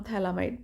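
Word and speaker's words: phthalimide: ठीक है, थैलिक acid में थैलिक कई बार P बोल देते हैं लोग, कई बार इसको साइलेंट कर देते हैं, तो ये आपका वे ऑफ प्रोनाउंसिएशन हो सकता है।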